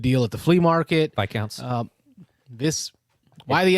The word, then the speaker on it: Viscounts: Viscounts. Why the S then? The S is silent.